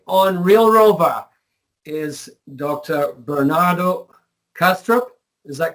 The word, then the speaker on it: Bernardo Kastrup: Bernardo Kastrup is that correctly pronounced um that's correct yeah Bernardo has a